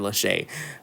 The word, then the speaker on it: Lachey: I don't want them knocking on my door, saying, "So you think my name is Lick, huh?" No, Mr. Lachey.